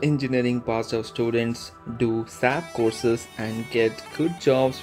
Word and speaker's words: SAP: SAP is pronounced as individual letters SAP, not as word SAP.